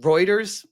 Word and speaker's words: Reuters: It's pronounced Reuters. I always call it Routers and also Fom.